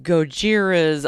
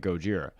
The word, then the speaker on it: Gojira: would sound just like Gojira. Which I don't think that's how they say it in France. Would it? Gojira, I think it's actually Gojira. Gojira. I think they would say it like that, but anyways.